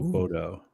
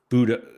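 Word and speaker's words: Bodø: Oh, Bodo. Or no, somebody taught me how to pronounce that, and I've already forgotten. Oh, is there another way of saying it other than Bodo? But it's like Budo.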